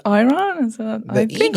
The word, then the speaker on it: Iran: Yes, I'm from Iran. Mm-hmm. They pronounce it Iran here, but it's Iran.